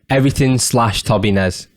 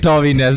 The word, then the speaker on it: TOBINES: So it's everything / TOBINES. And that's the fucking correct way to pronounce it. And as you say it, TOBINES, not turbines, dude.